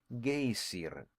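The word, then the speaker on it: Geysir: The gazer, a word the Icelanders pronounce gayer and which signifies fury, rose majestically from its summit.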